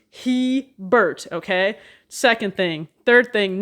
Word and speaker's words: Hebert: pronounce the name correctly it's not herbert because it's not h e r he bert literally h e and bert he burt okay second thing third